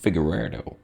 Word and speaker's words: Figueiredo: The whole, like, even flyweight, he'd be undersized against Figueiredo. That's how you pronounce that.